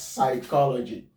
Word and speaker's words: psychology: This one has a cluster of P and S, meaning that the P here is going to be silent. We pronounce this one as psychology, not psychology.